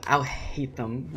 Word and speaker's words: Alhaitham: With Alhaitham, right?